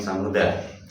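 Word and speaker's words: ثَمُودَا: Kemudian yang samudah, nah, karena sifirnya di akhir maka harus dibaca sukun. Kalau sifir mustadir ada di akhir, di huruf terakhir maka harus dibaca sukun. Samud, samud. Nah, bukan dibaca panjang.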